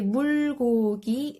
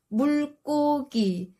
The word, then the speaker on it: 물고기: For example, if you say 물고기, it sounds unnatural. It should be 물고기. That's the correct pronunciation.